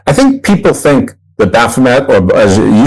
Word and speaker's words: Baphomet: I pronounce Baphomet as Baphomet. One, because of the significant quantity of French Canadian heritage that I possess.